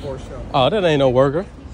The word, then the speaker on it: Porsche: But that's how it's pronounced, Porsche.